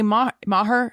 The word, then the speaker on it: Maher: this okay on lady brains your co-host kelly maher that's how you say it right yes she